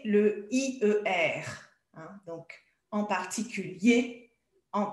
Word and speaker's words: particulier: Oui, là, on prononce hier, mais si c'est au masculin ou quand c'est un adverbe, on va dire en particulier ou particulièrement, en premier, en dernier.